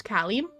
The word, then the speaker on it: Cali: Pronounce it like Cali in California, so it's Cali.